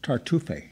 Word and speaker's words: Tartuffe: season well you're opening up September 8th with tartufe tonight no e on the end no even though it's a French word yeah no Accent on the East okay tell me about tell me about chartreuse well tartuffe is a a molier comedy uh Moira was